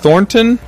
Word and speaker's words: Thornton: And we have Thornton. Oh, yeah. Hey. How's it going? Thornton?